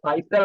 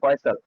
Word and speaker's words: Faisal: Faisal reaches এটা ফাইসাল না, এটা হচ্ছে ফয়সাল, উচ্চারণটা হবে ফয়সাল।